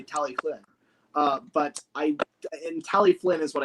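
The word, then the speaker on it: Talyllyn: Like, if you want to say it like a American, it's Tallylyn. Okay. If you say it like British, it's like Tally Flynn with an F. But if you say it properly like Welsh, the F, quote unquote F, is like with your tongue, like Tallyflynn.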